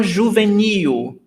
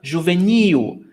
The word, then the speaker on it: juvenil: But basically, oxytonas mean that the stressed syllable is the last one, For example, uma roupa juvenil, new is the last syllable. So here we've got the first, the second, the last. And the stressed syllable is the last one, juvenil.